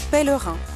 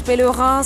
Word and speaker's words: pèlerin: Pèlerin s'écrit P, E, accent grave, L, E, R, I, N, S. On dit pèlerin et pas pèlerin.